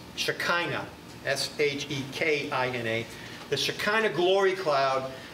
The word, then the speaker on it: Shekinah: don't picture white puffy clouds it's the and it's spelled wrong in your outline it's not it it's shekinah s-h-e-k-i-n-a the shekinah glory cloud always in the